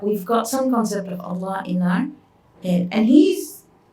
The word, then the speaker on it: Allah: And how do you say ya Allah? You fill your mouth, Allah. And where do you put your tongue? On top of your palette.